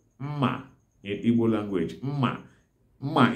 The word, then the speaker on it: mma: All knives are called mma in Igbo language. Mma. Mma is spelled as me-me-a, mma.